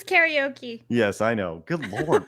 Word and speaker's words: karaoke: You know how you're supposed to pronounce that? Karaoke. Karaoke. There you go. Yeah. But us here in America, we say Or as it's usually karaoke. pronounced by drunk Japanese businessmen, karaoke.